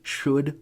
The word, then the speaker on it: should: will becomes would and what's super weird about these ELLs and could should or would is listen to me saying them you don't pronounce the ELLs and this is the only place in English where that silent L shows up it's so strange ah